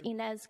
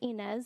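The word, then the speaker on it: Ines: you state your name for the sure it's inz and I'm the managing attorney of the Fitchburg office for community legal aid what's your first name it's inz it's spelled I NES and last name is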